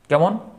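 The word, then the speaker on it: calm: নট নীল নব এই ধরনের ওয়ার্ড এল এর উচ্চারণ হয় এমন ওয়ার্ড কেমন যেমন কোন ওয়ার্ড বা কোন শব্দে এল এর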